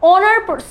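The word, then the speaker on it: honor: এখানেও দেখো অ্যান অনার মানে কি, এখানে একটা আর্টিকেল এবং এখানেও কিন্তু এইচ এর প্রোনাউন্সিয়েশনটা সাইলেন্ট থাকছে, সো এখানেও অনার সাউন্ড হচ্ছে, এর জন্য আমরা অ্যান ব্যবহার করব।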